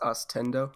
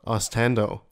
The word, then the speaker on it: Austendo: It's pronounced Austendo. Austendo. Austendo. Everyone says Austendo, and I hate it. Austendo. You hate it. Why? Pronounce it Nintendo.